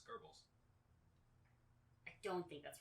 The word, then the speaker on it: Goebbels: nazi you mean gobble i mean goebbels that's how you say his name really it's g-o-e-b yeah g-o-e okay that's german it's gerbils i don't think that's